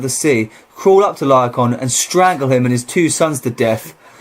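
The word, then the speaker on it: Laocoön: Laocoon.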